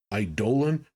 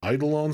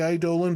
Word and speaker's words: eidolon: By the way, apparently the correct pronunciation is eidolon, but I grew up saying eidolon, so I will try to say eidolon, but if I switch back and forth, I apologize.